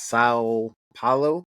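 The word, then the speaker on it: São Paulo: the the I guess I think it's pronounced sa Pao um and then I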